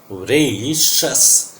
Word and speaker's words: voracious: See the pronunciation. This is not voracious. This is not O sound. This is very weak sound of a, w, रे. This is diphthong. EI जो लिखा हुआ है pronunciation में आप देखोगे. This is EI voracious. ये शस है.